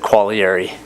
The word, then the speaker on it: Quaglieri: I hear the G is silent, but pronounce it however you want. Well, how do you pronounce it? I pronounce it Quaglieri. Quaglieri.